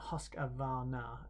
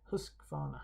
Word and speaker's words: Husqvarna: different pronunciations of husqvarna it's not husqvarna it's husqvarna husqvarna anyway okay uh we're